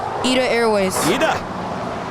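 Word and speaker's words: ITA Airways: southern four seven three you know how to pronounce the new italian airline left there say one more time eat airways you got it down i don't know why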